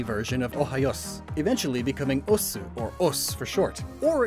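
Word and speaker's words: 押忍: words names osu is osu and ji osu pronounced us there you go os is a catch-all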